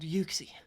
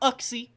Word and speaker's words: Uxie: It's not Uxie. It's Uxie. U-C. Because literally in Japan, it's spelled with a Y-U. How would you say that? You would not say Yuxie. It's Uxie. Or Uxie, or however people say it. It is Uxie.